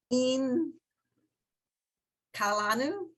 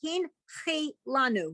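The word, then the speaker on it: הנחילנו: In Kalanu. Almost. So underneath the h In- is, Oh, Hin Kilanu. yes, hin, chi, lanu.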